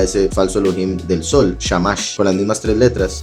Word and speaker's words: shamash: la vela del centro no shamash sino shemesh es algo hebreo y